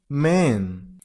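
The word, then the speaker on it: Maine: Louisiana next number 19 man here is only one syllable so Man, that's it.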